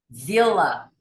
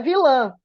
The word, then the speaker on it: Vila: Vila. Vila. Vila? Vila? Vila? Vila. Vila. Não é vilã, é vila.